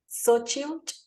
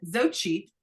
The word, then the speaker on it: Xochitl: Xochitl.